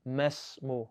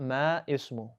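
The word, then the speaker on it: ما اسمُ: We didn't pronounce that alif on ma, and we did not pronounce that alif on ismu, and we went straight from mim to the scene. Masmu, not ma ismu.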